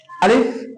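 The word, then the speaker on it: ألف: আলিফটা আমরা উচ্চারণ করবো কিভাবে? সর্বপ্রথম আমরা উপরের যে 2 দাঁত, উপরের 2 দাঁত এবং নিচের ঠোঁট মাঝখান বরাবর নিয়ে আসবো। আলিফ আলিফ আলিফ আলিফ।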